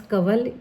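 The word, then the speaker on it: Kanwal: उसका नाम था फिरदौस कवल या कवल फिरदौस। तो मैं उसे बोलती थी कि ये तुम्हारे नाम में जो है एन को हम प्रोनाउंस नहीं कर रहे तो तुम्हारे नाम में एन क्यों आता है कवल ना तो वो कह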